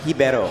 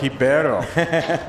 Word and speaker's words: Ribeiro: It's pronounced Ribeiro. Ribeiro. Yeah, the R becomes an H in Brazil.